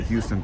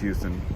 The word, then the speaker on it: Houston: People arguing about the Houston thing again. Yeah, all right, fine. It's pronounced Houston.